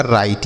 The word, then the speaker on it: right: तो GHT को हमने क्या बताया? ट। ये लिखा गया आपका राइट। ये देखिए इसका सही उच्चारण हो गया, राइट पढ़ना है।